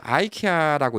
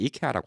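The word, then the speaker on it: IKEA: 자, 미국에서 아이케아라고 있죠. 예, 미국에서는 다 아이케아라고 얘기하는데 한국 가면 이케아라고 합니다.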